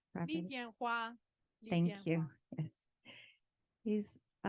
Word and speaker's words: Tianhua: And I'm not going to be able to pronounce his last name correctly. So, Ariane, can you say his name properly? Tianhua.